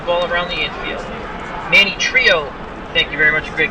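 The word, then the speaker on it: Trillo: Manny Trio, thank you very much, Greg Gurecki, for the pronunciation of the last name, as once again had a brain fart.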